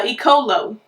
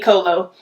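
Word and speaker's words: Eccolo: one is by uh icolo i think that's how you say it ecolo that's um e-c-c-o-l-o e-colo and um i like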